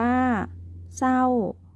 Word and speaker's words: เศร้า: ที่ สอง ก็ คือ คำ ควบ กล้ำ ไม่ แท้ ที่ ออก เสียง พยัญชนะ ตัว หน้า เท่า นั้น นัก เรียน ลอง มา